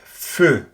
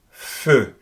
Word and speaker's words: feu: In French, you find it again in words like feu. Again, Peugeot, feu. There's no real equivalent, so it's very difficult for me to explain what to do in order to pronounce it right.